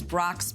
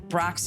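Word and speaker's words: Brach's: Brock's used to have to print on their wrappers, please ask for B-R-O-X, because a lot of Americans didn't know how to pronounce this German last name.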